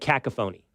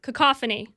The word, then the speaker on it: cacophony: world is I'll give you the way I mispronounced it okay I said cacaphony and I still sometimes in my head say cacaphony okay so you know want to know why I know how to pronounce this cacophony and I know why how to pronounce it